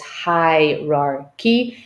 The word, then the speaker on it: hierarchy: And now with this specific handout, we can draw their attention to the last syllable, which is the k. Now, this is a cheat sheet because we have a clear representation of the k sound and then the red